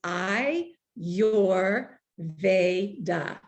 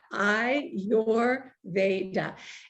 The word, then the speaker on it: Ayurveda: word i always say to remember how to say it it's i you're they da so that's just right off the bat i your veda and um there's a